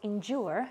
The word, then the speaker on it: endure: Let's look at endure, since this is a bit more difficult to pronounce. What sounds we have here? In, stress, and then j, jua, endure.